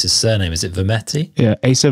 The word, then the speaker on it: Vermette: bikes uh Acer I'm not sure how to pronounce his surname is it vermetti yeah ASA Vermette yeah he's been um he's tell me a